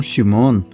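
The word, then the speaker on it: שמעון: Simão Pedro Simão Pedro Simeão transliterado do hebraico ou chimon como se fala no hebraico passou para a se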